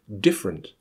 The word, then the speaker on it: different: You may have heard these words pronounced: different, chocolate, camera, separate. They are all words that should have 3 syllables, but have been reduced to 2 by dropping the schwa.